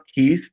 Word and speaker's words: Kuest: um the last name is k s it's pronounced ke but it looks like quest with a K right that's right Quest love but anyway um Kyle ke Kyle ke um but it's like you said